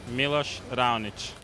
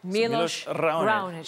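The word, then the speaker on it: Miloš Raonić: Look into the camera and let us know how you pronounce your name. We've heard about 8,000 different ways to say it. Milos Raonic. Okay, Milos Raonic.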